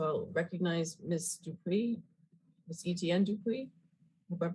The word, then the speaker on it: Etienne Dupuis: Etienne Dupuis, hope I'm pronouncing that correctly.